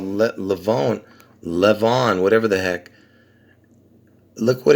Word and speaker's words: Levon: Anyway, the reason I'm calling it, see, I would pronounce this Levon, Levon, Levon, because I'll tell you why. Because see, Levon, the meaning of the name means lion, and where does it originate from? From Armenian.